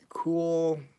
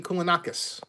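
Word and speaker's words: Kounalakis: Elaine Koulakakis. Elaine Koulanakis.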